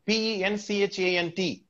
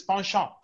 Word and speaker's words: penchant: have it in english you have it right p e n c h a n t we don't say it as penchant it is pawnshop there is a crisis in pronunciation the spelling and the pronunciation they vary